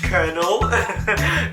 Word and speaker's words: colonel: You're telling me that you see a word like colonel and you're like, yes, that's actually pronounced colonel. Yes. How does that make sense? Where is the R?